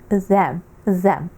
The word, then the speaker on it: the: Звучить він the. Оцей наш звук th. Він один з найскладніших в англійській мові, але ми його будемо окремо тренувати цілий урок на додатковому уроці по вимові трішечки пізніше. Поки що нас цікавить, що він вимовляється як the.